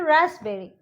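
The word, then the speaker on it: raspberry: यहाँ पे देखिए रास्पबेरी, हम इसको ऐसे पढ़ेंगे, पी है यहाँ पे, हम बोलेंगे रास्पबेरी, लेकिन ऐसे नहीं, यहाँ पे हो जाएगा पी साइलेंट, हम बोलेंगे रास्पबेरी.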